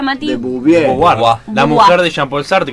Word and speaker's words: de Beauvoir: No, esta es la película, es, pero Simón no es, es Simón de ¿cómo se pronuncia, Mati? De Beauvoir.